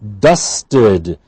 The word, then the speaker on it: dusted: She dusted the room. Dusted t at the end, so we have id.